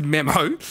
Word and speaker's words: Memmo: It's pronounced Memmo. Yeah. You can log on to Memmo and pay $21 and you're going to get a message from Flanners.